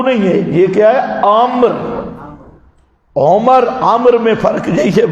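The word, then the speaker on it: عمرو: حضرت عبداللہ ابن عامر، یہ جو واو ہوتی ہے نا، واو عمر اور عامر، تو یہ واو ہوتی ہے صرف تلفظ کے فرق کے لیے، یہ امرو نہیں پڑھنا۔ جہاں واو ہو وہاں عامر ہے، جہاں واو نہ ہو وہاں عمر ہے، یہ فرق ہے۔ یہ جتنے اسٹوڈنٹ محقق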